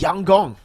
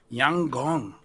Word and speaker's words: Yangon: By the way, Lfell, apparently YG is pronounced Yang Gong. Yang Gong.